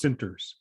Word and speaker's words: Centers: It's pronounced Center. It's written Centers, but it's pronounced Sinters.